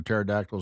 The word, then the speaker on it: pterodactyl: Cuz you know why you you can never hear the sound of when a pterodactyl is going using going number one. Why? Because the P is silent.